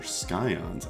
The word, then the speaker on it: scions: Your scions, I think you have to pronounce it with a hard C.